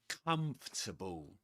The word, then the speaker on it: comfortable: Pretend it's spelled like this. Three syllables. Comfortable. Comfortable. Okay. This is like a kinds of trick figurative pronunciation for you to be able to pronounce this word comfortable. Comfortable. And again, just like in hierarchy, the main stress goes on the first syllable.